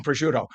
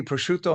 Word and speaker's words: prosciutto: Hey, please, I'll go and get some prosciutto. And yes, I Yes.